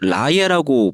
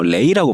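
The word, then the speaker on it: Raye: 라에라고 보이지만 어 레이라고 발음하는 저 아티스트가 있어요.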